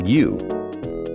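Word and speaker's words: ewe: A female sheep is called a U, pronounced just like U.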